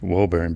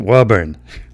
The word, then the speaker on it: Woburn: Woburn well so so if you sign it like a newscaster it's like yeah it's here we go it's it's Woburn but if you're saying it like we do around here it's a Woburn we're going up to